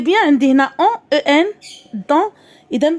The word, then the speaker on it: dans: Regardez bien عندي هنا on en dans. إذا كنطقوها dans.